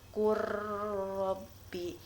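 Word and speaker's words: وقل رب: Contoh, waqul rabbi, tulisannya waqul rabbi, tetapi cara membacanya qur rabbi. Jadi lamnya itu seperti tidak dibaca karena apa?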